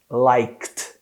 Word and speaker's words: liked: Esse ele é colocado nessa palavra só na ortografia, na pronúncia ele não existe. Uau! A gente precisa falar assim, ó, liked, liked. Então imagina que tem uma pausa no k, nesse som do like, e ele direto vai pular para um som de